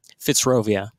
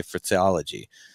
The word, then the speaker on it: Fitzrovia: Pronounce it for me. Fitzrovia. Okay. I was going to say Fitzology, you know, but you get the sign.